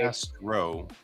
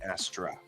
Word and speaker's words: Ad Astra: It's Ad Astra, to the stars. It's spelled that way. no. Sorry, Brent is like going out there looking for Astronet, and I'm like, not Astro, Astra. Astra is Latin for star.